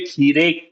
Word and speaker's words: खीरे: when lot of times when we will use words in a sentence, the a sound at the end kheera will become kheere. And when does it become kheere? Whenever we have a small preposition like ka after it.